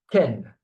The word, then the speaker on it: quel: Of course, all of them are translated by which, and all of them are pronounced the same. Quel, okay? Quel, quel, quel, quel, quel. The pronunciation doesn't change at all.